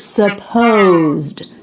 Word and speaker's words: supposed: supposed to be so we have the word supposed feels like two syllables with second syllable stress suppose but actually we drop the first vowel so it becomes just one syllable beginning with an SP cluster oh SPO and it